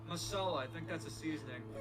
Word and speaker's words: masala: It's called magic masala or I'm probably butchering the pronunciation. Oh, it's masala.